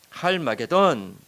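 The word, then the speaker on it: 하르마게돈: 우리가 나중에 좀 더 자세히 보겠지만 원어를 보면은요, 이게 히브리 음으로 아마겟돈이라고 하잖아요. 근데 한국어식 발음이고요. 원어를 보면 할마게돈이라는 뜻이에요. 할마게돈.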